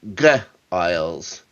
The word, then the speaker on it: Giles: She calls them Giles. Giles. With a hard G.